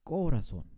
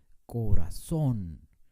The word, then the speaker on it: corazón: ejemplo la palabra corazón no decimos corazón mi corazón es corazón terminan n le ponemos